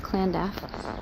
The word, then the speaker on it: Llandaff: I think it's pronounced Clandaff.